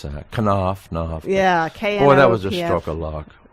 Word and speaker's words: Knopf: I don't know how to pronounce that. Knopf.